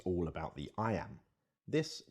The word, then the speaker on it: iamb: and kill the envious moon notice how the iambs cut across both punctuation and word separation meter